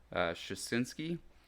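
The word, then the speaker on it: Suschitzky: But obviously, so in episode 5, Peter, I'm going to say this name wrong, but Shasinski.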